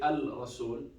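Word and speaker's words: الرسول: And we said the rule, if there is shadda with the first letter after al, that means it's shamsiyya, we don't pronounce the lam.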